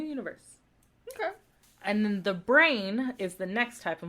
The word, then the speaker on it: brane: okay and then the brain is the next type of Multiverse so the brain Multiverse and it's spelled b-r-a-n-e not brain is in like brains what to say that's